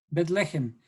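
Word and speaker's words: בית לחם: Belén en hebreo es en realidad Betlehem. ¿Sí? Betlehem.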